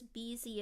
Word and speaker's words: Beezy: I didn't know it was Beezy at first.